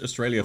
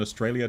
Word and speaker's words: Australia: they eventually settled on Australia to with foreigners because it has three A's and every a is pronounced differently austral three letter A's